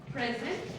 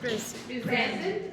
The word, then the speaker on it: present: पे होता है तो the stress is on the first part और verb होता है तो stress is on the second. For example ये present and present and present.